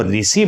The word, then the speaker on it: ऋ: वाला हो रहा है ऋ का जो शुद्ध उच्चारण था उसमें जीभ को स्पर्श नहीं करना था आप प्रयास करके इसका